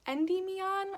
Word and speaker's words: Endymion: These ones are called Endymion, I think is how it's pronounced.